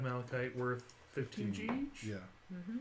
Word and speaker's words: malachite: I believe it's malachite. Yes. Yes, it is spelled like that.